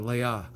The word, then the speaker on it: Leah: my great grandma leia she spelled her name leah but she pronounced that leia and that's emerson's mom